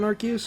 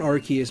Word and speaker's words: Arceus: And if you're wondering why I'm pronouncing it Arceus instead of Arceus, it's because I've had people comment on my videos saying, well, why are you saying it like Arceus? Arce is ass or butt in British terms.